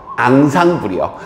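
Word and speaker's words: ensemble: 외울 필요는 없고요 이건 inle이라고 하는데 아 프랑스어로 발음하면 어디선가 들어볼 수 들어본 적 있을 텐데 바로 앙상 불이요 아기들 같은 거 다 이렇게 상부를 이룬다 총체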